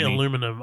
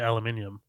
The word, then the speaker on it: aluminium: You say aluminum. I We We say aluminium.